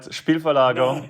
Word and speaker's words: Spielverlagerung: It's not as easy to pronounce, right? Spielverlagerung.